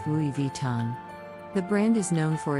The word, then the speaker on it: Louis Vuitton: Brand's most iconic designs moving on to Louis Vuitton this French luxury brand is often mispronounced as but the correct pronunciation Louis Vuitton the brand is known